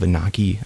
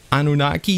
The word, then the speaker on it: Anunnaki: do the episodes of Anaki. I know I'm saying it wrong still. Anunnaki Genesis.